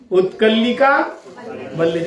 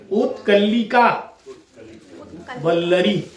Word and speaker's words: उत्कलिका वल्लरी: हाँ, इसको उच्चारण करना तो आ जाए कम से कम। उत्कलिका वल्लरी, इसको 2 भाग में बांटो, उत्कलिका वल्लरी।